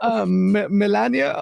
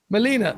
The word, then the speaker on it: Melina: We met Melania or Melena. How do you pronounce her name? Melina.